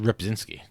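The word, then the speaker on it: Rzepczynski: I believe it's just ripinski I feel like that that first Z is silent rip rip zinski uh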